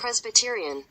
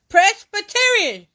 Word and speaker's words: Presbyterian: pz B Rion when they break it down like that that helps me and that's what my memory will collect that and then I'll start pronouncing it like they pronouncing Presbyterian Presbyterian see Presbyterian I messed up that